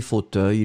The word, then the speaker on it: fauteuils: préparer un fauteuil des fauteuils le S final on ne le prononce pas nous sommes d'accord on